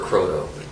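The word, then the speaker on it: Croteau: name is Cotto how do you spell you last name c r o t e Au U and we're using the French pronunciation my familyes divided I I prefer Cotto oh Cotto I see yeah okay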